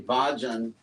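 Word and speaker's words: भज्: But actually, the real root is bhaj, which is pronounced exactly like the English word budge, like don't budge, just stay there.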